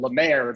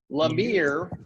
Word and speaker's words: La Mer: Yeah, so the overall show is entitled La Mer, but as Brent Crocker pronounced it, it was La Mere.